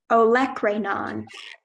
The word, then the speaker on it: olecranon: yes are there any there's also an alternate pronunciation of olecranon could you please repeat